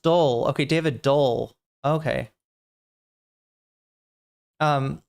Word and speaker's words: Dole: Doyle the Dole, not the Doyle, the Dole um the Dole Corporation.